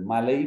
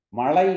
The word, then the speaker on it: மழை: மழை பெய்கிறது என்பதற்கு பதிலாக மலை பெய்கிறது, மலை பெய்கிறது என்று சொல்கிறது. மழை, மழை என்பது பிழை, பிழை மழை, மழை என்பது சரி, மலை என்பது பிழை, பிழை.